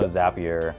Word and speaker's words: Zapier: I know Zapier. W For the longest time they had to put something on their footer that says Zapier makes you happier so you would know, like zap your rhymes with the word happy too.